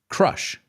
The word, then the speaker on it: crush: Crash, crash. Associate the vowel sound with something. Crash, okay? The second word, crush, crush. If you crash your car into a wall, you're going to crush it. Do they sound the same? Absolutely not.